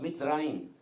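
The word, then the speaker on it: מצרים: El nombre o la palabra o el país de Egipto en hebreo es Mitzrayim, y se escribe con una M que es abierta, pero termina con una M que es totalmente cuadrada y ya no puede salir.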